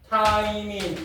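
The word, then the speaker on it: 티민: 그다음에 T는 타이밍이라고 읽어요. 타이밍.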